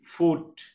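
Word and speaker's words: foot: double D good ভালো F double ও টি ফুট পা জি double L গুন বোকা বা আনারিলো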